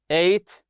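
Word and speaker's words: ate: he said get it eight like the number eight as you can see here get it eight this is the past tense of eight it's the same pronunciation as the number eight he said yeah I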